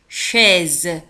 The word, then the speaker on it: chaise: C H A I تنطق chaise. وكذلك S تنطق Z chaise.